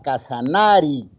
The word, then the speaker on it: Casanare: Casanare significa, inicialmente el vocablo se pronunciaba Casanari, pero en el contexto, en la pronunciación durante muchos años, se dificultaba más pronunciar Casanari que Casanare, por lo que la vocal E es más abierta. Y entonces la gente empezó a pronunciar Casanare.